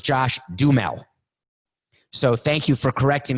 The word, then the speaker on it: Josh Duhamel: him apparently a listener corrected me because i pronounced josh duhamel's name joshu hamel but apparently it's josh dumel so thank you for correcting me you know